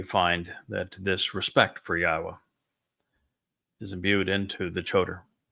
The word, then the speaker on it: Yahowah: He was the one who recognized that the proper pronunciation was God's of God's name is Yahwa not Yahweh.